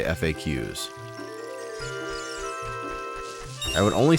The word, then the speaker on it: FAQ: Berry nectar bubbler if you pluralize is FAQ would you still pronounce it facts no I would say FAQs I would only say